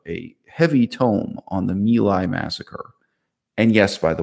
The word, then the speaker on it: My Lai: what is the pronunciation is it milai or is it my lie it's in fact pronounced mila it's the milai massacre uh it's a book